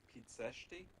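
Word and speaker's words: Pitești: Pizzesti, I think it is. Because if a T has a sedia under it, it's ts.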